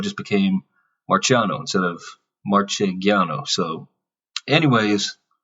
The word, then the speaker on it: Marchegiano: a G but you know people had trouble pronouncing It in America so it just became Marciano instead of marchegiano so anyways it's probably one of those things